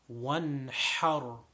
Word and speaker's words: وانحر: وَانْحَرْ. Over here, a very simple word. The ha is the strong ha, the sharp ha.